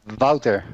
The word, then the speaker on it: Wouter: you for like years is it wood or water or how do you say her name its vaulter Wouter okay that sounds way